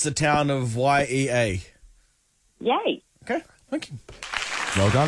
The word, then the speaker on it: Yea: a a cast before and how do you pronounce the town of yea yay okay thank you well done Ash again Bluey